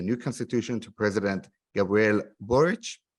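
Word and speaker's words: Boric: draft of the new constitution to president gabriel burrich right did i pronounce it correctly you did okay awesome and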